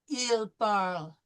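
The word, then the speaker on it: parlent: Third person plural. Il parle. Okay. We don't pronounce the ENT.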